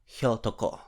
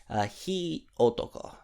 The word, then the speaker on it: Hyotoko: Fire is pronounced hi, and man is pronounced otoko. So if you combine them together, it should mean Hyotoko. Hi otoko.